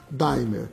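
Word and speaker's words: D'aimer: qualquer parte do Brasil pronunciar a palavra como ela são como ela é lida dier tá certo mas dem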